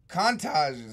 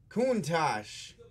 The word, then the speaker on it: Countach: all right let's let's put up a couple cantatas huh 1990 these are too loose - loose ones these are pretty sweet Countach yeah said it wrong Countach Hot Wheels Countach 1990 somebody opened me out